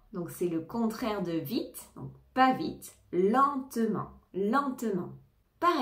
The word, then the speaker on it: vite: c'est-à-dire à grande vitesse vite vite on entend bien le T le E ne se prononce pas mais le T oui vite il court très